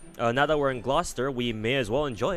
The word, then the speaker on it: Gloucester: one painter of course you used to pronounce Gloucester as glue cester I mean to be